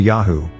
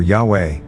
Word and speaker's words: Yahweh: The first Lord, in all caps, refers to Yahu, the existing one, the living one, YHWH, pronounced Yahu or Yahweh, and the second Lord, with just the initial capitalized, is Adonai, meaning master.